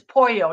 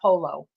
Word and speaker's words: pollo: Well, okay, if you're going to go there, then it's pollo. It's not polo. Pollo.